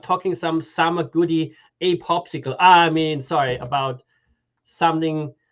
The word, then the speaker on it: PopSQL: you say popsql yeah internally we we say popsicle but okay popsql makes sense popsql people you know how